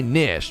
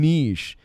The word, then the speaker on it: niche: everybody's like it's niche plenty of people say nish by the way i'm going back to saying nish i realize like there's multiple pronunciations of that word frick you and get